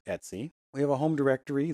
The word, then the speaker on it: etc: directory it's usually configuration files etc but it's pronounced etsy it spelled et Cie but it's pronounced etsy we have a home directory that's where home